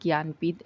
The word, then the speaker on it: ज्ञानपीठ: ज्ञानपीठ award पर move on करते हैं। तो 2025 में 60 6 एडिशन ऑफ ज्ञानपीठ अवार्ड हुआ। इसको प्रोनाउंस करते हैं ज्ञानपीठ।